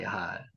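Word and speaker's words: יחל: 야할. 야할 한번 해보세요. 야할. 기다리다. 야할. 예, 기다리다. 자, 여러분이 지금 이 발음을 하는 거는 제가 지금 녹화트가 보내드릴 거거든요.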